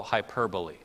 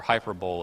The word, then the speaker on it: hyperbole: already a case of what we call hyperbole or hyperbole if you want to say it wrong like I have for so many years you have Jesus making